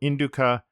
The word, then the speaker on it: Indu: Xuanzang's record of the western regions notes that the proper pronunciation of the land should be Indu.